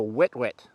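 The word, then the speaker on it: huet-huet: of the species is called the wet wet which is spelt h-u-e-t-h-u-e-t it's a spanish word and they're part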